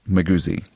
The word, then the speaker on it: Maguzi: While I love the mental image of a weak mage carrying heavy artillery, Maguzi is actually pronounced Maguzi. At least that is how I pronounce it. It's Swahili. which makes more sense.